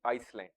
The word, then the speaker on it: island: pronunciation we are speaking island but actually when we are to write it is I S L A N D Iceland in the same way